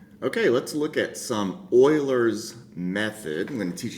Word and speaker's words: Euler: bitly slot uler because everybody wants to call it uler method when they first see that but it's actually pronounced Oiler and that is case